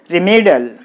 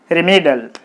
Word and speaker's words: remedial: So, you put the stress mark on the me, then it will be pronounced as remedial.